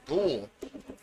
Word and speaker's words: Gould: skips in on the goaltender number 29 Adam Gould oh that's how you say it g-o-u-l and